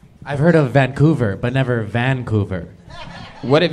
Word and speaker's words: Vancouver: vancouver i've heard of vancouver but never vancouver what have you heard of vancouver and what what did i say vancouver you put the wrong and fastest on the wrong syllable okay i i don't